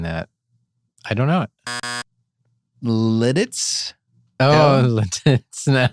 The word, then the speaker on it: Lititz: Littitz? Oh, Littitz now. Lititz?